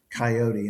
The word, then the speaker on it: coyote: for the animal, but he even describes in roughing it how you pronounce it, that it's a threecllable coyote.